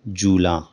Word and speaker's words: جولاں: کا پہلا لفظ ہے جولاں، جیم کے اوپر پیش، جولاں۔ اس کے معنی ہیں